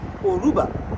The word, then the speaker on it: Yoruba: don't call themselves yorubas they call themselves Aruba so the Y is silent and that in Cuba